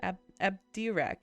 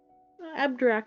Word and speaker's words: Abdirac: tips um not really app Dirac apparently I said it wrong abdirac is how we hear him in the game address can be more